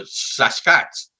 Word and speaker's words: Sasquatch: The best way to think of it is take the word basket, drop the B, and add SAS to it.